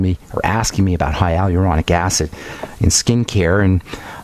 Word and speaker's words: hyaluronic: Certainly there's high aluronic acid. high aluronic acid is how you say that in the skin and